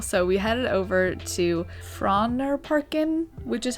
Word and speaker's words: Frognerparken: Geographically, I'll admit we did not plan this day very well, so we headed over to Frognerparken, which is how you pronounce it according to the Google search I just did.